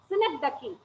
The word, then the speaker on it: synecdoche: Okay, next one is synecdoche. You have to pronounce this as synecdoche. It's not synecdoche. You have to pronounce it as synecdoche.